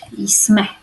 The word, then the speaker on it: jsme: But that's not how you write jsme, although you pronounce it like this very often.